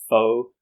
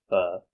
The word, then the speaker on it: pho: So a lot of people know about pho, which a lot of people pronounce as pho, but I think in Vietnam it should be pronounced as pho.